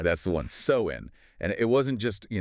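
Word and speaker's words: Samhain: years ago, Celtic Ireland, with a festival called Sam Hayne. Okay, Sam Hane. Let's unpack that. Pronounced so in. Right, that's the one. sew in and it wasn't just you know a holiday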